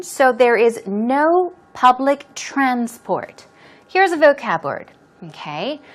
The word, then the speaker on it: transport: There is no public transport. We're talking about public transportation, for example, okay? Now, you should be careful. Transport. When the stress goes on the first syllable, as I said, transport, it's used in the noun form.